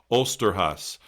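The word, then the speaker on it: Osterhase: And red flag here, I'm going to mispronounce this. It comes from a folk tradition called Osterhas, the Easter hare.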